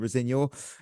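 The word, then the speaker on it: Rosenior: On a human level, we'll hate Clear Lake if they appoint Rosignol and potentially ruin early a promising career. Oh. Apparently, that is how you say his name.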